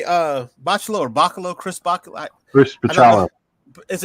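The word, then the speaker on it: Bachalo: too, and it is Bacalo. Bacalo. Oh, thank you. Yeah. Okay, but I asked him, I said, "How do you say your name?" He said, "It's Bacalo."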